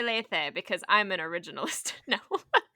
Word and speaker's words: Lethe: I say Lethe because I like the ancient Greek pronunciation better. Lethe.